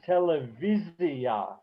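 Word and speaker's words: טלוויזיה: The one I always think of is television came into Hebrew totally from elsewhere, and the accent is televizia.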